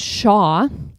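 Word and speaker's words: Zzxjoanw: word um ZZ XJ o n w is pronounced Shaw and it's supposedly a type of Maui drum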